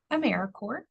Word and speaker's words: AmeriCorps: of um knowledge about americore it's very quick to look at the word and say corpse but we are alive we are here americor